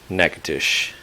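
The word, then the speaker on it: Natchitoches: they're native to the northwest city pronounce nakatish it's about 250 miles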